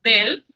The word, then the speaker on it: des: escribe D-E-S, es decir, termina en S, pero esa S no se pronuncia.